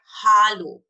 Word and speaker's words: Hallo: we said hello but in german we said hallo it's a it's a the sound is ah so when you take the a the sound is ah ah it's r so the sound is ah so it's hollow hollow okay hello hello